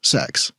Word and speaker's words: CeX: I I think it is genuinely meant to be pronounced sex, but they sort of say it with a straight face.